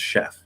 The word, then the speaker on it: chef: as an exception um most words that have ch that come directly from french like chef or chauffeur we'll use an sh sound um okay um so